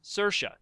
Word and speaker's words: Saoirse: Saoirse What was it again? Saoirse. Saoirse. It rhymes with Now I got rhymes with Cersei on the inertia.